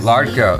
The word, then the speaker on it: Ladka: Ladka. Okay, it's the R sound. Yeah. The fake R sound.